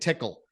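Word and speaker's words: TCCAA: called tickle tickle right it's not spelled like your traditional tickle right it's TCC a a those are the six ways we pronounce it tickle makes it a little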